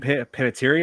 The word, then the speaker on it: Panettiere: and there were another familiar face on here was Hayden Panettiere. I think I always have a hard time Yeah, pronouncing her last Hayden Panettiere. name. Panettiere, yes.